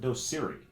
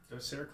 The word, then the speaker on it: Docere: Do you pronounce it Docere? Docere Clinics.